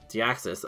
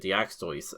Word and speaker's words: Deoxys: Deoxys. I don't know why I was pronouncing it Daxto.